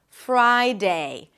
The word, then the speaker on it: Friday: Fry. And then it's the I as in my. Fry. Friday. Two diphthongs, I-A.